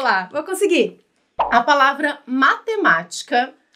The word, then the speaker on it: matemática: a gente estava senta matemática tá então acertou oh explicação tranquilo né tranquilo porque assim é proparoxítona porque tem a anti penúltima sílaba mais forte então a gente conta